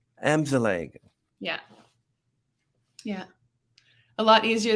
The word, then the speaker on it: Amzallag: Okay, now, before saying I know I'm going to have to figure out your last name is pronounced Amzallag. Amzallag. Amzallag.